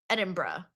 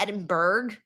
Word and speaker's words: Edinburgh: Edinburgh. I know it's not Edinburgh.